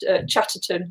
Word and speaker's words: Chatterton: Second name's quite difficult to say even when you're sober. Chatterton. It's got three syllables.